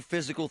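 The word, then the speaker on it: Fyzical: You want a new physical therapy experience? You want a treatment plan centered on you? Monroeville Physical, spelled F-Y-Z-I-C-A-L, is spelled different, because they are different.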